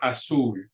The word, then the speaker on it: azul: So some examples I have here: azul, azul. Azul ends in an L, which is a consonant other than N or S. And so the stress goes on that last syllable, azul.